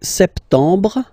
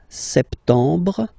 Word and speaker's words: septembre: So, septembre, septembre, septembre. Remember this E-M en septembre. Br, br. You don't insist on the final E. Septembre.